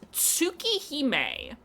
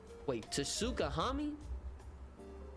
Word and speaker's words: Tsukihime: So the clip of this is somebody trying to pronounce Tsukihime. Tsukihime. That's what he's trying to pronounce. I'll just play the audio for you guys on stream. Opening for you guys today. We got the Tsukahami?